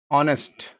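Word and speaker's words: honest: ఏంటి like for example కొన్ని words like அவர் ఆ హానెస్ట్ హానర్ వెహికల్ వెమెంట్ ఈ అన్నిట్లో కామన్ ఏందంటే హెచ్ is silent H is silent so ఆ హానెస్ట్ ఆన్ వెహికల్ వామెంట్ అన్నిట్లో హెచ్ అనే లెటర్ అనేది సైలెంట్ అన్నమాట ఎప్పుడనే ఎప్పుడైతే హెచ్ అనే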